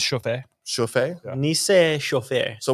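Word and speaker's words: Chouffe: How do you pronounce this? it's Chauffé.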